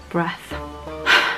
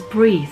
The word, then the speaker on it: breath: said and breath breath in my video i'm saying it says breathe but it doesn't say breathe because it's spelt b-r-e-a-t-h that spells breath now for those of